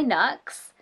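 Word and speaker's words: Nuxe: It's by Nux. That's how I pronounce it, N-U-X-E.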